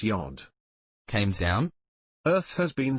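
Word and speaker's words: Gud: Reporter, it's pronounced Yod.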